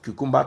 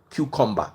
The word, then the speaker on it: cucumber: from the destiny of cucumba tomato yes sir as you see sh like this she will never understand the taste of cucumber soup cucumber that's the right pronunciation she will never understand